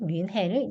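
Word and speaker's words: München: 근데 이거는 독일에 가면은 민헨이라고 발음하진 않아요. 독일 사람들도 뮌헨이라고 발음을 하고요. CH 발음을 슌이라고 발음을 하고 흐라고 발음하기도 하거든요.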